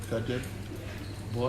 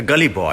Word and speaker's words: Gully Boy: Is it Good Boy? What is it? Good Boy? A Gully Boy.